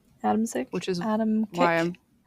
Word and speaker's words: Adamczyk: saying that right, because it's spelled Adam, C-I-K, Adam Sick, but every pronunciation I looked up had a ch sound. So I Hmm. could be saying it totally wrong, Adamczyk?